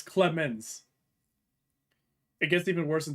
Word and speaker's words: Clemens: In my opinion, it's Klez, Clemona, Clemones. Just a board man. You didn't spell it right at any point. There's no O. It's Clemens.